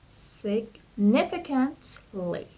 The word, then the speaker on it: significantly: So a stress is on the second syllable, and it would be significantly.